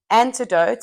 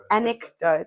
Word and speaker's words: anecdote: So if you could tell me that, you see, I don't even know how to say it. Anecdote.